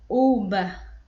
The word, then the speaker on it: uva: a pronúncia desta palavra então eu pronuncio assim de maneira uba uba uba uba certo e ai temos aqui